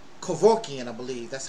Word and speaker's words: Kevorkian: A doctor called Kevorkian, I believe. That's how he pronounced it.